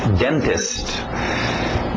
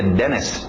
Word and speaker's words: dentist: Being Dentist Dentist Dentist pronúncia rápida de denst uma palavra conhecida todo mundo na hora de escutar D sabe o que é um DST evitamos os TS lembra então tira esse T Denis Denis Denis today Judge